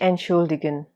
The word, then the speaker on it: entschuldigen: Sich entschuldigen. The verb here is pronounced with the T silent.